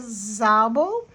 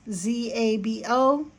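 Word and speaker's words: Szabó: Um, then I'm also reading um Abigail by Magda Zabo and that's spelled S Z A B O with an accent mark.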